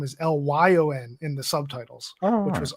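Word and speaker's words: Léon: There's a version that Yeah, it's Leon, because I say it like that because when I watched one version with the subtitles, they kept saying his name is Lyon in the subtitles, which was odd.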